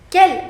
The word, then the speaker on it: quel: So you see the pronunciation of all of them is quel.